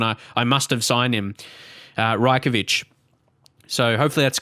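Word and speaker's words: Rajković: 5 million signing Predrag Rajkovic. I believe that's how you say it, because I remember, because someone said that in comments last time when I must have signed him, Rajkovic.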